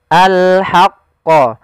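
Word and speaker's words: الْحَقَّ: huruf ha kecil yaitu kita mengeluarkan dari tengah tenggorokan kita ha disertai dengan adanya nafas maka alhaqqo. Alhaqqo.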